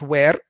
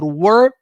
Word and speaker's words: were: be was or were we pronounce it here were not where because where it's the question word we use for a place so was or were las paste par ti